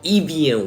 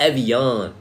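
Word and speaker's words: Evian: to pronounce it right it's called Ean not Evan okay the American way of pronouncing it is Ean y'all out of pocket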